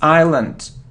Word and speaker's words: island: it isn't Iceland now it isn't Iceland it's Island we don't pronounce its Island okay good so it